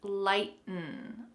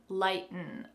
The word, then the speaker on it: lighten: So we're going to kind of swallow the last sound, lighten, lighten, to lighten up.